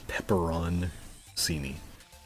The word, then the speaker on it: pepperoncini: Peppercini is spelled weird because it's spelled like pepperoni, and it's pepperoncini. But it's like you don't really pronounce most of it. It's just peppercini. I'm pretty sure like Italians would probably say the whole thing or something, but I don't.